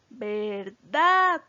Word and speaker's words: verdad: la palabra verdad verdad verdad tiene el acento la sílaba tónica en la última sílaba pero vean un detalle